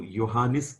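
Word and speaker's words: Johannes: picture of yanis kapler in German language J is pronounced as y so johanis Kepler German astronomer mathematician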